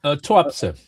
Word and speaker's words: Tuapse: I don't know how that's pronounced. The tu or tuz oil touapsa.